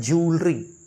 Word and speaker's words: jewellery: फिर देखिए बहुत ही ज़्यादा मिसप्रोनाउंस होने वाला ये वर्ड JEWELLERY, एक्चुअली ये होता है ज्वेलरी, ज्वेलरी ना कि ज्वेलरी.